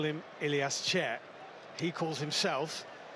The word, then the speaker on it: Chair: tell you is Ilas Chair. We are given by FIFA a video of all 832 players at this World Cup pronouncing their names. He says it sher and that's what we'll be calling him.